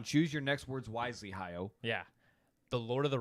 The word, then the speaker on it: Hayao: Hayao. Okay. it. Hayao? There's no R.